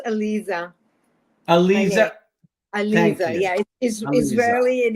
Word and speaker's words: Aliza: worldwide it is my distinct pleasure to welcome Eliza to the conversations with Allan hello there hi thank you so much for being here it's pronounced Alisa ala ala yeah isely and it means it